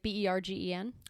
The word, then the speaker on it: Bergen: Is that how you pronounce like what I would read as Bergen? Like Bergen? No, Bergen is Bergen.